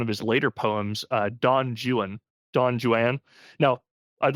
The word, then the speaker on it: Don Juan: If you're talking about the Spanish legend, uh, when Byron writes Don Juan, he intentionally pronounces it like that because it's, I don't know, it's a joke about how British people can't pronounce right in foreign languages.